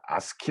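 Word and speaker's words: ASCII: 어 영어에 약자 거군요 그리고 이를 아스키 라고 읽습니다 저야 스키가 일상의 이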